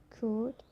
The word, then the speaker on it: could: So the letter L can be silent too. It's quite common when you look to example, like could, should, talk, walk, york, half, calf, salmon.